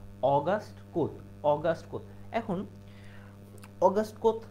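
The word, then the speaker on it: Auguste Comte: এটা তোমরা অনেকেই হলো ভুল করে বল যে অগস্ট কমতে যেহেতু সিও এমটি কিন্তু আসলে উচ্চারণটা কি বা প্রনান্সিয়েশনটা টাকে সঠিক প্রোনাউন্সিয়েশন অগাস্ট কোথ অগাস্ট কোথ এখন অগস্ট কোথ দেখলো বা অগস্ট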